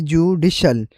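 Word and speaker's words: judicial: तो पहला वर्ड है जुडिशल। जडिशल और दूसरा वर्ड है जडिश अस। जडिश अस। फर्क मिडिल और एंडिंग साउंड में है जो सुनते ही क्लियर लगता है।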